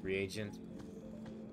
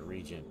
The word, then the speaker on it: reagent: Alchemy Regent I guess reagent I want to call it Regent I want to pronounce it Regent but I think it's re agent might as